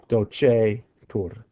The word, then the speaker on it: docetur: We had amabitur, the future, amabetur, and we had the present, which just says docetur. Long E, simply because this is a long E type verb, like monere.